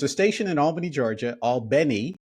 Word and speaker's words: Albany: station in Albany Georgia Al Beni as they pronounce it in south Georgia that's interested in you